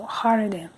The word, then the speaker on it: Jardín: But they say Ciudad Jardín because the J is an H, so Jardín.